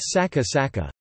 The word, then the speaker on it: さっか: In Japanese this is an important distinction in pronunciation, for example, compare saka saka, hill, with saka saka, author.